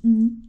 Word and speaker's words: Igny: je fonce à ini on prononce ini et puis rendez-vous sur